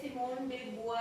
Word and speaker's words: Simone de Beauvoir: Okay, सो इसको सिमोन दी विवॉयर भी बोल सकते हो, ठीक है, विवॉयर, और इसको बुआ, दोनों प्रोनाउंसिएशन इसकी सही है, बुआ भी है ये, इसको बुआ भी प्रोनाउंस कर सकते हैं, सिमोन डे बुआ या सिमोन डे विवॉयर, okay, both are correct.